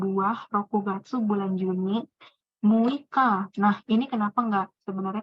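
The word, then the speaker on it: 六日: Nah, Muika ini sebenarnya cara baca agak spesial gitu. Agak berbeda sendiri.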